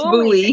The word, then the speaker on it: Buie: It's Buie. It's Bowie.